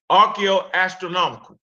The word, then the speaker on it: archaeoastronomical: Okay, archaeoastronomical.